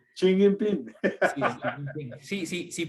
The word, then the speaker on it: Xi Jinping: Pero eso que ocurrió, creo que envalentonó a los dos, tanto a Putin como a Jin, o como se pronuncia. a Xi Jinping. Xi Jinping.